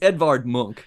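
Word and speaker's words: Edvard Munch: It's Edvard Monk is how it's pronounced in North.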